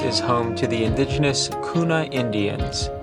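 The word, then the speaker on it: Guna: home to the indigenous kuna Indians the G being pronounced as a k at around 55,000 in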